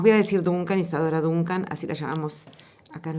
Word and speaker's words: Duncan: para hoy que es isadora dunc o danc sería la pronunciación más más cercana al inglés digamos voy a decir dunc yadora Duncan así la llamamos acá